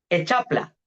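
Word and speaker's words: Hexapla: También tenemos la Echapla. Echapla. Se escribe H-E-X-A-P-L-A.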